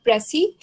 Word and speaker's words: précis: When we spell like PRECIS, it is called Pressy, and when we will spell PRECISE, then it is pronounced precise.